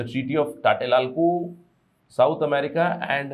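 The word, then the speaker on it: Tlatelolco: पहला एरिया, सबसे पहला एरिया है टाटेलोल्को ट्रीटी, इसको प्रोनाउंस किया जाता है टाटेलोल्को करके, ठीक है।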